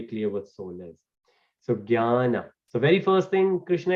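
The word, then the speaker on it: ज्ञान: So remember, usually when we read Sanskrit or Hindi, usually we write from G, but from Sanskrit to English, it's actually J. And the way we pronounce it is jnana.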